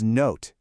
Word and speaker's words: note: Okay, that word is note. How did you do? Did you spot that O and silent E pattern? It's that magic E again, telling the O to say its name.